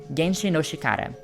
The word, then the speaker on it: 原始の力: They all learn Ancient Power, in Japanese called Genshi no chikara (原始の力) it is written differently, but pronounced exactly the same way as the word 原子の力 (genshi no chikara) which translates to “nuclear power.”